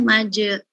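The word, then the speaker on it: مجريها: Majeroha dibacanya majereha.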